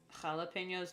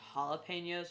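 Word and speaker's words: jalapeño: than comprehensible it's like in Spanish the J is an H sound right like jalapenos which I pronounce it jalapenos not jalapenos because I'm just you know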